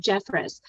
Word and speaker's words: Jeffress: i love that term expert contributor bra jeffress and i probably said your name wrong right you said it exactly right